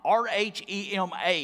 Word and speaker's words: rhema: But notice in your outline, the word translated here is rhema, R-H-E-M-A. It's pronounced rhema.